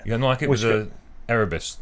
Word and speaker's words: Erebus: You unlock it with a Erebus. Right. How do you pronounce it? Erebus.